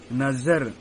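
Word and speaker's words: नज़र: जैसे नजर, आप लोग देख रहे हैं जा के नीचे एक बिंदु है, उसका उच्चारण सही ढंग से करें, नजर।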